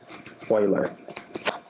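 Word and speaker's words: Euler: some definitions e u l e r is pronounced Oiler and so I have the idea of an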